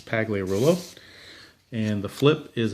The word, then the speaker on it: Pagliarulo: and that brings up Mike Pagliarulo or pronounced Pagliarulo but I think it's paglia rule oh and the flip